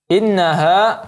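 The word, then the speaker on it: إِنَّهَا: Kemudian ada ayat yang ke-8, innaha, ya nun yang ada tasdidnya maka kita dengungkan lagi, kita gunakan sebagaimana yang kita katakan tadi.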